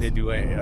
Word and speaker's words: Inouye: Inouye, but I think it's pronounced Inouye.